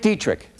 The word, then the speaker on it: Dietrich: For now, I'm Dietrich. That rhymes with neat trick.